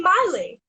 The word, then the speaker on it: Miley: It's Miley with the my, not Millie with the me, cause Millie with the me goes it all night. And I would always sing the song. So everyone would always get my name wrong, and they would always call me Millie.